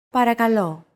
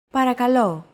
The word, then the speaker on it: Παρακαλώ: Παρακαλώ. Παρακαλώ. Chances are your pronunciation was pretty spot on. The P, R, K, and L sounds are practically identical to English.